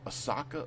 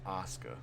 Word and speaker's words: Asuka: other people women Champion Asuka as Asaka Asuka did I say Asuka Asuka Asuka that's her damn name Asuka okay so it's spelled